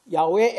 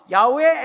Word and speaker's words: 야훼: 야훼 엘로힘 이래 되어 있거든요. 원래 여호와라는 말은 발음이 안 좋고요. 원래 원어로 하면 야훼입니다.